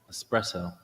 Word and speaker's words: espresso: realize what this is espresso you say you have to say it right there's no r okay and this the